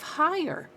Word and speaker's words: high: of higher high right and high is got that silent GH in there and you could kind of explain that it's because it's from the German right you know Anglo-Saxon okay flower that's a